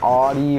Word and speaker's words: Audi: getting one but yeah some people pronounce it Audie or Audi so yeah at the